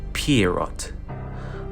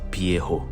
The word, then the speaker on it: Pierrot: We find out that his name is Pierrot. I think it's a Portuguese name, so the T is silent, so it's probably just Pierrot.